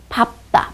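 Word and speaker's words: 밟다: 그런데 이 리을, 비읍 중에서도 밥 시리즈는요. 뒤로 나요. 밥다, 밥고.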